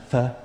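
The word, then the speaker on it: phở: It's spelled p h o. Pho. But it's not the way it's pronounced.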